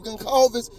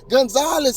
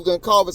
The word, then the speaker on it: Goncalves: She said his name is wrong as I be saying it. She said Gonzalez or something like that.